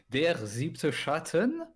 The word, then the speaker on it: Der Siebte Schatten: Alors, Der Siebte Schatten, Oui. si on prononce correctement.